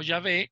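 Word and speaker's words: Yahvé: estudiamos cuando veamos jehová podemos pronunciarlo como llave y está perfectamente bien leído de hecho está mejor leído que leer jehová ok que eso no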